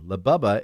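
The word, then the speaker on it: Labubu: What is labubba? Okay, labubba. It's spelled L A B U B U.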